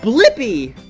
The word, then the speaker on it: Blippi: Yeah, it's Blippi. Let's spell it together.